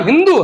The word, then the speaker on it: हिंदू: का बिगड़ा हुआ नाम हिंदू है क्योंकि जब अब के लोग तुर्क के लोग यहां आते थे फारसी में एस का उच्चारण है होता है वो सिंधु नदी को हिंदू नदी कहा करते थे और सिंधु नदी